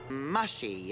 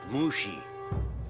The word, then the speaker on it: Mushi: Mushy, is it? It's pronounced Mushi.